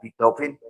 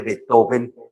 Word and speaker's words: Beethoven: Con la pronunciación suave de la orilla del Rin. A él le gustaba que lo denominaran como Beethoven, no como el acento fuerte Beethoven de Viena.